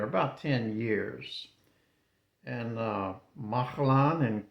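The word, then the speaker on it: Mahlon: And the name of his two sons were well I always said this was Malan and Chilion but it's uh it's actually pronounced Mahalan and Kilion they tell me.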